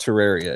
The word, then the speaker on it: Terraria: a terraria or terraria i'm sorry i've always called it terraria it's properly pronounced terraria if you're a terraria